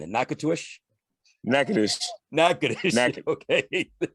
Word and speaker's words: Natchitoches: Nakatush, how am I pronouncing it? Nakatush? Natchitoches. Okay. Natchitoches.